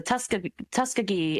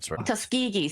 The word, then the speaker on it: Tuskegee: on humans are usually black Americans like the Tusk Tuskiggee experiment and what have you. Tuskegee. Thank you. I'm sorry for the pronunciation.